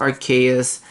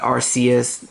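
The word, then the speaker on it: Arceus: the nintendo switch yes it's pronounced archaeous not rcs um i don't know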